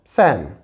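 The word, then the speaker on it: psalm: When L is silent, जब L silent हो, example देखें, इसका एग्जाम्पल हमने देखा है P और L के साइलेंट होने की वजह से इसे हम पढ़ते हैं सैम।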